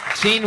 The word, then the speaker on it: Jeanne: It's spelled like Jeanne, Jeanne, L. Whitney, all one word. Gene right. with a silent N and E after it.